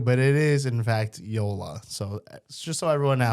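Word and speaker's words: JOOLA: So you can also just so everyone at home knows it is pronounced Yola like Yolo but Yolola. It is not Jula.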